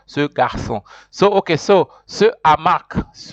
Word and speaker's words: garçon: So that accent makes the C pronounced like an S.